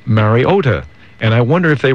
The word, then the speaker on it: Mariota: Or Mariota, which is, an incorrect way to say it, but it's really... it's one of those tricky, kind of very subtle. It shouldn't be as difficult as it is, but it's Mariota. Mariota.